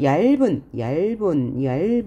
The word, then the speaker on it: 얇은: 얇은 이렇게 해야 되죠. 자, 겹점이 올 때 뒤에 있는 자음은 연음에서 발음해요.